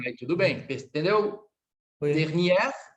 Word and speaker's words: dernière: Aí eu poderia dizer assim, ó, na última semana, la semaine dernière, porque é feminino, aí tudo bem, entendeu? Oui. Dernière, olha, eu abro a pronúncia, dernière.